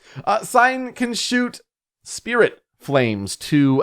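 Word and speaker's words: Sein: in the spirit named sign that's s e i n almost like a german pronunciation in a way sign can shoot spirit flames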